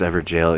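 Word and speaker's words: Evergaol: dialogue ever ever jail it's pronounced ever jail even though it's g a o l yeah wow I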